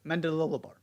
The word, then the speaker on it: Mendilibar: Trying to figure out how to pronounce his name. I believe that is how you do it. Mendilibar.